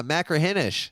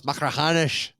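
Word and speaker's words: Machrihanish: YouTube channel macaran because we kept pronouncing oh yeah macraish and it's like no it's macraanish.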